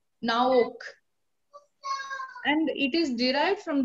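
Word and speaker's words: Noach: The meaning of Noah is comfort, and it is pronounced as Naok.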